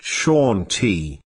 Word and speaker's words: Shanti: of this invisible plane is Shanti pronounced Shati those who Reach This